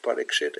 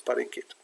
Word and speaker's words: Parikshit: But they drop the S, like Parikit. You hear Prabhupada say Parikshit and it's Parikit.